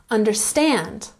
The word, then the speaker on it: understand: Understand. Emphasize the third syllable.